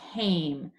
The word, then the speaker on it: came: It has an E at the end, but the E doesn't make a sound. It's called a silent E. When the silent E is there, it changes the vowel from a short vowel to a long vowel.